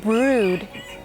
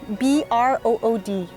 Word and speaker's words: brood: want to say it it rhymes with food it's called brood b-r-o-o-d brood and that's like